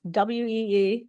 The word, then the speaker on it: Ui: Um I know it's spelled UI. It is pronounced we like we.